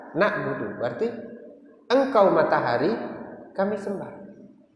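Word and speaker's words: نَعْبُدُ: Sabit dan Imam Al-A'mashi semuanya membaca na'budu. Tapi kalau Imam Yahya ibn Sabit dan Imam Al-A'mashi itu beliau membacanya kasrah. Ni'budu, bukan na'budu. Tapi bacaan Imam A'mashi ini memang jarang kita dengar, jarang kita dengar. Tapi ada dipakai. Yang benar adalah dibaca fathah, na'budu, walaupun ada yang membaca ni'budu.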